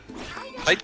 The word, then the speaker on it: Tite: But No, like Not- the way that I've seen it, like everything I've seen about how it's supposed to be pronounced is that it's supposed to be pronounced like tight.